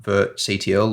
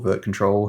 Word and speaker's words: virtctl: that can be used called virtctl or virtcontrol, however you want to pronounce it, which similarly to other Kubernetes add-ons, communicates directly with the Kubernetes API server to manipulate KubeVirt related resources.